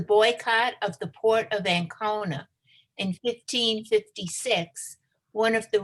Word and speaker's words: Ancona: For 2 decades, ex-conversos from the Iberian Peninsula had lived as openly practicing Jews in Ancona. Is that how you pronounce it?